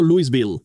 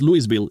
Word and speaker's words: Louisville: mucha gente lo llama si no eres de allí y quieres molestar a los locales llámalo Louisville ellos le ponen su toque sureño al decirlo es Louisville y ni siquiera puedo